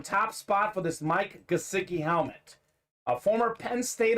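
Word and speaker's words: Gesicki: how to say this guy's name it's actually pronounced mike gosiki gesiki we thought it was jaseki joseki it's actually gasiki he's got the fins up talented dolphins tight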